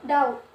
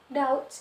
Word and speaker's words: doubt: Kemudian doubt. Doubt itu B-nya tidak diucapkan. Jadi bukan doubt, tapi doubt.